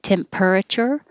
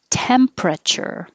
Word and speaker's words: temperature: to say doodle 15 looks different than it sounds so you can see this per would make it sound like temperature but we don't say the E so drop that and now you have the pr together temperature what's the temperature thermometer